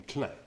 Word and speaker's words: Klein: Eve Clan did okay you probably pronounce Klein but the French call him Clem I don't know about